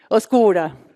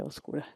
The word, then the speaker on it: oscura: No, how do you say okura? Yeah. Oscura.